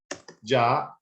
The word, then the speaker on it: già: So this sound is like in English, già, like jacket, ge, like Jenna, G, Jo, Ju. As I said before, we don't have the J in Italian language, but the pronunciation of this sound in English is the same in Italian.